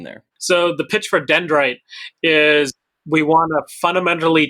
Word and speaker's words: Dyndrite: dite how do you say it so it's pronounced dendrite and I purposely make companies that are impossible